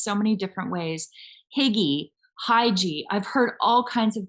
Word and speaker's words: Hygge: It is pronounced Hygge. It is spelled, have you guys seen this word before? It's Hygge. And I have heard this pronounced so many different ways. Hygge, Hygie.